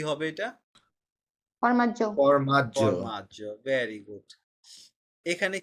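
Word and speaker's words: formaggio: এখন আমরা যারা এখানে সরি, একটু ফ্র্যাঙ্ক করেই বলি, যারা বলছি জিওর না আলে, তাহলে উচ্চারণটা এখন কি হবে? জর্নালে। জর্নালে। ফরমাজিও, কি হবে এটা? ফরমাজ্জ।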